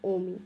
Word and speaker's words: ওম: চক্রের বীজ মন্ত্র হচ্ছে এই ইউ এম কিন্তু উচ্চারণটা আসে ওম স্পেলিংটা আলাদা কিন্তু ওতো এই চক্রে